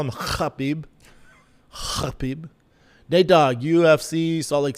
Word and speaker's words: Khabib: D Scott says, "FYI, Khabib is pronounced Khabib. The K is silent. Just letting you know, Big Brown." All good. I'll call him Khabib.